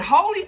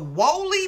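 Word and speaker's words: Wholly: They opened it up and it was I don't know if you pronounce it holy or woolly Bible, but it was spelled W-H-O-L-L-Y, like woolly, woolly Bible.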